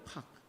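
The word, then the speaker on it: פח: 그런데 오늘이 올무라고 하는 원어의 발음이 뭔지 알아요? 파이요. 팍. 파라도 하게 하고 팍 그래요.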